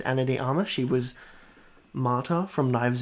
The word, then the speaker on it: Ana de Armas: I'm gonna say it's Ana de Armas.